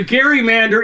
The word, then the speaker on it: gerrymander: So, well, the Gary Mander is a problem. And it's Gary with a hard G. It's named for Elbridge Gary of Massachusetts.